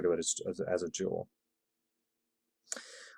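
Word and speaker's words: joule: going to have the unit of Jewel kind of pronounced like this almost kind of Jewel uh we're going to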